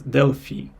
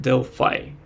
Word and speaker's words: Delphi: and other stuff and in Russian I always uh named this as dely but in English it is called Deli so it was quite unusual for me to pronounce this word in English and I recalled all